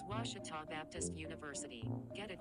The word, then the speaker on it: Ouachita: for Washita Baptist University back in Texas everybody pronounces it Wichita but really it's Ouachita Washington how would you pronounce it wash your top it's Ouachita Baptist University get it right yes wash it